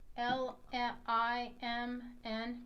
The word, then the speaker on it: Limn: It's Limn, kind of like liminal.